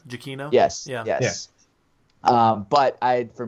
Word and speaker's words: Giacchino: But, or Michael, I don't know how to pronounce his last name. Giacchino?